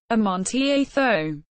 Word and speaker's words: Amontillado: Amontillado Spanish pronunciation a Monty a Thome is a variety of